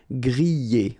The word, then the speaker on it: griller: Remember, er, because these are verbs here. Griller, pocher, éplucher, okay? You pronounce them e, okay? Even if you get this R, okay? This combination of two letters, R at the end, will give you the sound E.